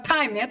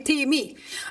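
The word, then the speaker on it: τιμή: bahasa gerika adalah time bacanya bukan tanya tapi time artinya sesuatu yang bahan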